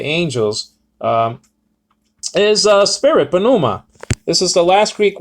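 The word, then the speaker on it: πνεῦμα: men uh you know they give this sort of pronunciation numa i used to do that too but now i say panuma because the p is is um you know pronounced okay so i mean it's not wrong to say numa it's not it's not really wrong too much but it's it's better it's better pronounced like uh panuma because the p is not silent in greek doll it's silent in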